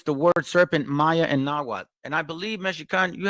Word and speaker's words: Nahuatl: I do want to say that it's called Nahuatl. Okay, Quetzalcoatl, not Quetzalcoatl.